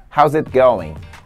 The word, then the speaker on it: how's it going: Muito bem, percebe aí a pronúncia do it, né? Fica how's it? How's it going? O T quase que desaparece, né?